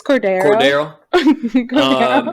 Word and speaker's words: Cordero: It's Cordero.